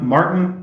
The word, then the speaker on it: Maarten: So hi guys, I'm Maarten. That's how you pronounce the name.